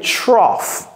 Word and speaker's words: trough: Donc, ça se prononce comment? Ça, c'est trough.